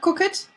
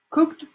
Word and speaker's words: cooked: it goes this way cook cooked so it's not cook it cooked mm-hmm cooked ask asked